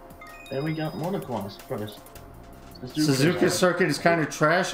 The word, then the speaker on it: Suzuka: Suzuka Circuit! Suzuka. It's Suzuka. How do you pronounce it?